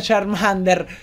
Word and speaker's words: Charmander: Perché sì purtroppo ragazzi bisogna accettare il fatto si pronuncia Charmander lo so Anche a